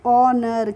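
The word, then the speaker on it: honour: को हम पढ़ते हैं ओनर कभी भी एच के बाद ओ आएगा तो वहां पर हम एच का प्रोनाउंस एशन नहीं करते हैं ठीक है इसीलिए इसको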